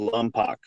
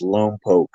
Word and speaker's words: Lompoc: I got a 30-month sentence, and I went to Lompoc. Where's that at? Oh. It's down south by Santa Barbara, and you know, look, everybody says Lompoc, right?